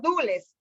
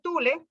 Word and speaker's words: Dule: bueno, dijeron, los dules, porque ahí dice Tule, que está mal pronunciado en el libro de historia, dice Revolución Tule. Entonces hoy también hay una discusión de la palabra Dule, porque nosotros no hablamos así, Tule, ¿ya?